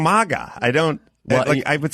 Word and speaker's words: MAGA: So I asked the president, and he said it's MAGA. Like magazine. Right. Like magazine. Why do people keep saying MAGA?